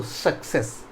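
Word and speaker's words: success: हूँ यहाँ पे सक्सेस, तो देखिए डबल सी है। अब वहाँ कंफ्यूज नहीं होइएगा, ये सी के बाद क्या आ रहा है, ये तो कॉन्सोनेंट ही है, तो इसका तो उच्चारण क्या हो जाएगा, क हो जाएगा। और नेक्स्ट सी के बाद ई है तो उसका स हो जाएगा, ठीक है।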